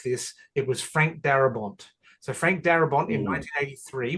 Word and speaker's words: Darabont: Yeah, it's Barabont. Is that how you say his name? Darabont with a Thank you. With a D.